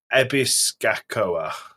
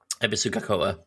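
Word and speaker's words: Ebisugaoka: of the town is called, and I'm going to butcher the pronunciation of this, Ebisgakoa. Ebisugakoa.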